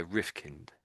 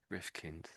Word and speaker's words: Rifkind: So, you want to say kind, but we as a name, this is a surname. It doesn't get pronounced that way.